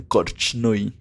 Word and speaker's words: Korchnoi: Hablemos de Víctor Kornoy. Inclusive he visto que lo pronuncian Korchnoi.